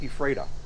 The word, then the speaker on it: Ephrata: Now, from Canada, I'd call it Ephrata. But only because I watch Andy, I know it's Ephrata.